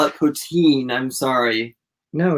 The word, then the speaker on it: poutine: Canadian national dish dish it is called poutine is how you pronounce it that doesn't sound right